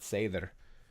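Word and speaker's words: seiðr: And the reason I make that distinction, Ursula Dronka translates seither, because it's not a D, it's an F, which is like it pronounces like a TH. But seither, we see that there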